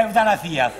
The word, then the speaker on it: eutanasia: No, non si dice zia, eutanasia. Si dice. Eutanasia, con la S normale.